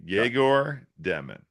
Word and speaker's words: Yegor Demin: Yegor Demin. And you know what the crazy thing is? Yegor Demin.